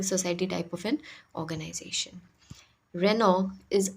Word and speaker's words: Renault: सो रेनॉल्ट इज़ a French automobile company. ये एक France में इसका हेडक्वार्टर है। ये एक फ्रेंच कंपनी है, इसलिए इसका प्रोनाउंसिएशन भी रेनॉल्ट नहीं है, इसका प्रोनाउंसिएशन रेनॉ है।